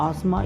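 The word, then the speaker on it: asthma: very बताना चाहूंगा दोस्तों यहां पर अस्थमा को अस्थमा पढ़ा जाता है क्योंकि यहां पर टी हैं साइलेंट होता है इसलिए इसे आत्मा पढ़ा जाता है एक सेंटेंस देखिएगा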